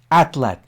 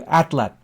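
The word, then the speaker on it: atlatl: Atlat. Now I pronounce it again for you, atlat. The name atlat derives from the Nahuatl language of central Mexico, where it was applied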